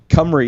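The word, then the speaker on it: Cymru: Cumry is what a lot of people call it, and I think that is the correct pronunciation. After I said Simru.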